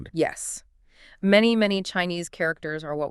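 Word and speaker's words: 马: On its own, it means horse and it's pronounced ma, right?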